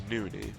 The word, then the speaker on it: NonY: Played under the ID Tyler after he got tired of people mispronouncing his name, calling him NonY. It's NonY, not that it really matters that much, but